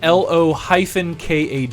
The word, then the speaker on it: Lokag: It is LO-KAG, Lokag.